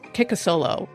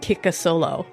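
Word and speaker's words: Kikisoblu: Her Duwamish name is Kikasolo, which I looked up. So Duwamish is the tribe. So it's spelled like Kiki So Blue, but it's pronounced Kikasolo.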